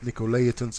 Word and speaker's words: Nicolaitans: Now this is a little bit different writing here, but Nicolaitans is the way that you pronounce this.